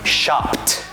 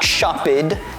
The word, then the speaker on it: shopped: If a word ends in a voiceless sound and we want to add ed that ed will also be pronounced voiceless In this case that will sound like the letter [t] That's why the correct pronunciation of shop in the past tense is shopped not shoppid not shoved But shopped I shopped at the